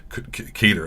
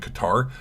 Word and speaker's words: Qatar: Al Udeid Air Base in Qatar. I thought you're supposed to pronounce it Qatar, but now people say Qatar.